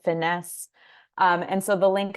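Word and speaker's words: FINYS: collaborative uh initiative called Farm to Institution New York State we pronounce it finesse um and so the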